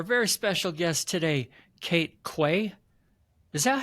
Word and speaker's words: Quay: yeah it is um it's funny because you can also be pronounced key uh if you're from the UK so sometimes people call me key but yeah it's it's Quay I'm going to pretend